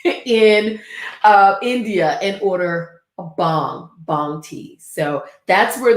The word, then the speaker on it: Bhang: uh bangology from well it's actually pronounced bong the the bang part which i say bang because i'm southern um